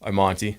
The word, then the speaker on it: Imonti: And Imonti, did I say your last name right? Close enough. Imonti. Yeah. I've heard it like 30 different ways. I'm not picky. Well, how do you say it? Imonti.